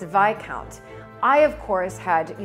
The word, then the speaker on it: viscount: not this count it's vi count i of course had you know the greatest one-liner comeback ever and i said but why would it be pronounced vi count when it's spelled exactly like discount and that is the